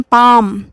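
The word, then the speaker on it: palm: पाम, काफ, walk, talk, half, chalk, फोक, इन सारे spellings में L present है पर साइलेंट है, उनके साउंड नहीं आ रहे हैं।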